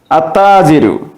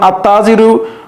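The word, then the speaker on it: التاجر: এখানে দেখা যাচ্ছে যে আমরা যখন আত্তাজিরু উচ্চারণ করছি সেক্ষেত্রে তাজিরুন এর প্রথমে যে আলিফ লাম যুক্ত হয়েছে আলিফ লামের লামটি উচ্চারণ না হয়ে শব্দটির প্রথম অক্ষরে তাসদিদ যুক্ত হয়ে উচ্চারণ হচ্ছে আত্তাজিরু ব্যবসায়ী এরপরে আসসাবু কাপড় এরপরে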